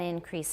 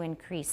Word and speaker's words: increase: syllable he needed to increase stress on the second syllable in my perception he